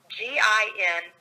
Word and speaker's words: Gin: It's Gin, like gin and tonic, kind of gin.